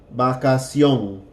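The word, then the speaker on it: vacación: action combination its young so replaced the CT with a C and put an accent on the oh and it's going to sound like oh oh with a little soft G in the back of our throat when we say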